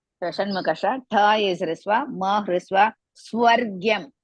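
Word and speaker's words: स्वर्ग्यम्: is hrisva, ma hrisva, swargyam. You have to pronounce how? Swa, sa and va together, and ra half, gya, swargya, swargyam. Swa, ra and gya and ma. Swargyam, all are hrisva, ma is half.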